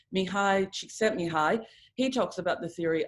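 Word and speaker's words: Mihaly Csikszentmihalyi: And if you've ever heard of the theory by, and I'm not Hungarian, so maybe pronouncing this wrong, but I think it's right, Mihai Csikszentmihalyi, he talks about the theory of flow.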